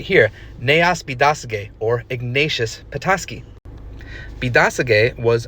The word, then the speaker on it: Biidaasige: Petoskey, of course, being the more anglicized pronunciation of Bidasege.